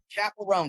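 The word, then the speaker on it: Chappell Roan: Is it Chapel Ran? Yeah, Chapel Ran.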